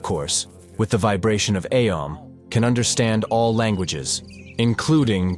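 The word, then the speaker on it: Aum: fact it turns out it's more correct to pronounce it aom instead of om because it consists of three sounds uh and um the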